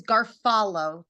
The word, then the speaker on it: Garofalo: And I think you know my last name is Garfalo when you say it. The O is silent.